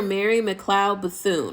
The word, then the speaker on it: Mary McLeod Bethune: Mary McLeod Bethune. Okay, that is how you pronounce her name.